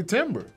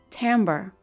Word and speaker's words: timbre: Timbre. Timbre? I didn't make up timbre? The word. The It's the first. It's pronounced T-A-M-B-E-R. Timber is a tree.